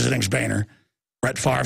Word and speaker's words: Boehner: I know he says his name's Boehner.